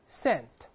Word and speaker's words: scent: 我们大声读一下，scent。好，这个香味儿跟美分的那个词啊，发音是一样的，就把 s